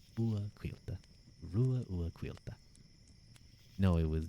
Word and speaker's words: Ruadh: Of course, my name is pronounced Rua. Rua.